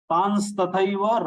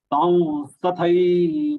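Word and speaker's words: तांस्तथैव: If after Anuswara sa is there, the pronunciation has to be Anunasik va, town. As if you have to imagine as if there is a letter va and then nasal va. Taun tathaiva bhajamyaham.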